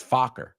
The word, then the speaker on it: Focker: He's Greg Fokker. Greg Fokker. Los padres de ella, los padres de él. Meet the Fockers. No es Fucker, it's Fokker.